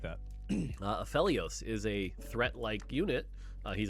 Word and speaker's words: Aphelios: Uh, Aphelios is a threat-like unit. He's a Targon champion, so if you get him early, he's strong. It's Aphelios. I thought it was Aphilios. It's like Elio.